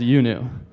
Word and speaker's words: IUNU: When you see IUNU, it's pronounced UNU.